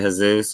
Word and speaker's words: Jesus: Like instead of H-A, because J is pronounced like an H in Spanish. Yeah. Like Jesus is actually Jesus or whatever.